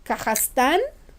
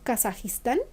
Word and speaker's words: Kazajstán: de guerra, por ejemplo de Kazajstán, que no es Kazajistán, se pronuncia de otra manera, y de Turkmenistán, ¿no?